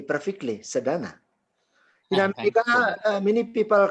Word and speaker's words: Sedana: pronounce my name correctly perfectly. Sadana.